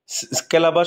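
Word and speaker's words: calabash: চামড়া ব্যাম্বু বাঁশ এন্ড কেলাবাস কেলাবাস এটা উচ্চারণে এটাই বলা ভালো কেলাবাস আর কমন এক্সাম্পলস এগুলো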